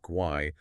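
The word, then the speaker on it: Guay: That's gu a y pronounced kauai on LinkedIn.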